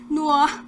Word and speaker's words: Noir: Paano ba i-pronounce yun? Noir.